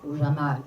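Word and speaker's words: جمال: la catégorie du diamant el jamal comme dans sa prononciation arabe c'est à dire de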